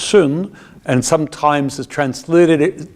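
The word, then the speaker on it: σύν: the word sy n which in greek is pronounced soon and sometimes is translated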